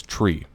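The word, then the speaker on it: three: 3 pronounced phonetically is tree, like the thing with fucking leaves on it.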